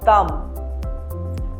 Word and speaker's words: thumb: Whenever B follows the letter M in a word, then B is silent. For example, comb, bomb, thumb.